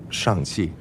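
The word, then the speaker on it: Shang-Chi: coming in at number 34 spot we have shang chi it's shanxi okay so that's how you pronounce it so this is actually like the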